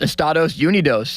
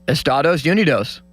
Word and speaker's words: Estados Unidos: It's our country is pronounced Estados Unidos in Spanish-speaking countries. Is it? Yeah. Can you say that again, Limits? Estados Unidos.